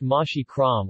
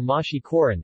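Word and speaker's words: محشي كرنب: In Egyptian cuisine, cabbage rolls are called mashi kerm, pronounced mashi kram or mashi koran, as standard Arabic m often turns to n in proximity to b in Egyptian Arabic, literally translating to stuffed cabbage.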